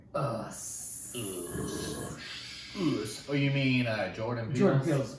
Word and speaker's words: Us: I think it's pronounced Oos. Oos. It's not. Jordan Peele is... I'm very frustrated. It's not. No, it's not. No, it's not Oos.